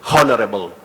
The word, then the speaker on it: honorable: the correct pronunciation is Honorable with h being silent and honorary not honorary